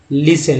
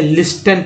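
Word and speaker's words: listen: टी के just पहले एस है तो टी साइलेंट है। कैसल, लिसन, लेकिन बहुत सारे लोग ऐसे लिस्टन पढ़ते हैं, लिस्टेन, टी एन को रखते ध्यान में, और लिस्टेन है ना।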